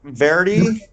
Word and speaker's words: Varady: um and how does your last name pronounce Verdi that's right yeah was recommended To Us